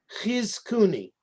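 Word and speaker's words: Chizkuni: Ghizkuni.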